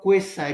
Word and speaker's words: quasi: इसको आप क्वेजाई भी पढ़ सकते हैं, इसको आप क्वेसाई भी पढ़ सकते हैं, और इसको आप क्वाजी भी पढ़ सकते हैं। ये तीनों प्रोनाउंसिएशन हैं जो ऑक्सफोर्ड डिक्शनरी ने जो है हमें रेकमेंड की हैं।